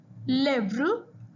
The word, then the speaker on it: lèvre: However, an E, it tells you the vowel is pronounced as a. The sound is a.